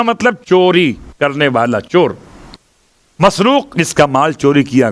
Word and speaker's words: مسروق: 3 تلفظ ہیں الگ الگ الفاظ کے اعتبار سے، مرزوق، مسرور اور مسروق. میم سین رے واو قاف مسروق.